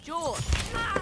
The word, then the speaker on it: Jorge: I can't do this my name's pronounced George don't you back talk me Jorge what's happening I don't